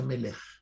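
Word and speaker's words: מלך: Ángel se pronuncia malach y rey se pronuncia melech.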